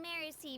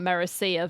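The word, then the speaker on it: Merusea: We Malazines live in Mercy Village. The only way to enter is from underwater. Am I the only person who's been pronouncing that Merecia village? That's my bad.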